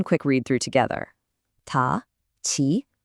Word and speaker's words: ち: This character is pronounced chi. What's happening is that the consonant sound actually changes from a t to a chi.